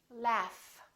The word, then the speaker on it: laugh: another example the word laugh this gh is actually an f sound right there's no vibration